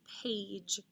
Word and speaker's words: page: t-l-e and next is page repeat good a g i know it sounds like j it's followed by an e because it's an a